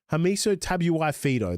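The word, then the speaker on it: Hamiso Tabuai-Fidow: Is it Hamuel? Hamiso Tabuai Fido.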